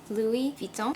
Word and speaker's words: Louis Vuitton: There are many people who buy Louis Vuitton, as it's properly pronounced, but how many people actually know much about the secrets of the brand?